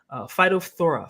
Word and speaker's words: phytophthora: Something called phytophthora. Phytophthora. I had to look that up how to pronounce that the right way.